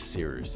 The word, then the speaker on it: Cyrus: ado, my name is Seeroost. It's spelled like Cyrus, but not like Sea Rooster, just take out the tur.